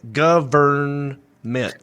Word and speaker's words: government: Government. Three syllables. We say government.